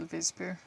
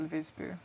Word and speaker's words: Wisby: It's spelled with a W. Mm-hmm. Hotel Visby with a W.